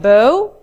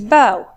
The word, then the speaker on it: bow: You see the difference in pronunciation. The first one, bow, the second is bow.